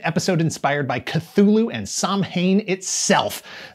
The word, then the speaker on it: Samhain: inspired by cthulhu and samhain itself that's how it's pronounced in the show save your samhain and sowhen takes for your halloween